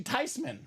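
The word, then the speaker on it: Theismann: mad because the family name is actually tysman Ty they've been pronouncing it wrong all along ouch so whether it's Joe thian Joe tisman or Joe thyman one of the great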